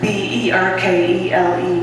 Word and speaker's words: Berkeley: That's Berkeley, like you're barking up the wrong tree.